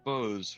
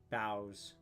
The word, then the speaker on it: boughs: Bows instead of uh boughs. Okay, it's pronounced that way. Damn it. Um, as January pounds the northern states with ice and snow, birds huddle under the protection of Bruce bows. Boughs. Bows. Like when the bows bows.